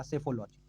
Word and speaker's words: सेफोलॉजी: किया जाता है तो याद रखिएगा सेफोलॉजी पी इसमें साइलेंट है इसलिए इसको सेफोलॉजी पढ़ते हैं मतदान व्यवहार का निर्धारण